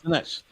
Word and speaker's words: Sinach: Sinach.